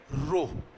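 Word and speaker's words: ρ: से रिप्रेजेंट करते हैं इस सिंबल को प्रोनाउंस किया जाता है बाय रो रो अल्फा बिता गामा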